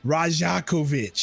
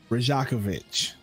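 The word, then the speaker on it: Rajaković: Charles Lee and Darko I can't even pronounce that dude's last name Rajiv rajakovich there we go rajakovich so King Jordy Fernandez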